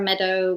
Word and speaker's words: Medeau: And Meadow is spelled Medeau if you're Googling it.